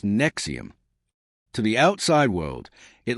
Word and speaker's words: NXIVM: It was called Nixim, pronounced Nexium.